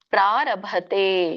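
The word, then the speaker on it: ಪ್ರಾರಭತೇ: ಕರ್ಮ ಪ್ರಾರಭತೆ. ಪ್ರಾರಭತೆ ಭ ಇದಿದೆ. ಮಹಾಪ್ರಾಣ ತೇ ದೀರ್ಘ.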